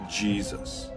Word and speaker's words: Jesus: around 1500 AD that the letter J took on the jib sound we are familiar with today so yay Seuss came to be pronounced Jesus so the modern name